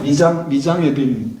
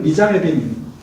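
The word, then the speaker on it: mise en abyme: 이런 미장 에빔, 미장 에빔 이렇게 읽어요.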